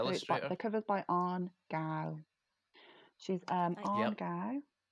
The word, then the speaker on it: Cao: the cover's by Anne Gao. She's Anne Yep. Gao. So it's CAO, but it's pronounced Gao, which I just found out.